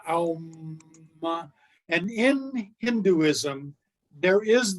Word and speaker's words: Om: It is the word sound Om. It's spelled O-M. It's actually pronounced Aum.